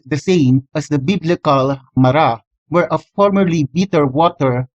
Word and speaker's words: Marah: Mem Resh He, and while it is currently pronounced Marah, it could have been pronounced as Maru instead during the time of Moses.